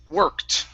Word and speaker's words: worked: good okay let's try the same t sound here instead of working it's worked worked okay very nice right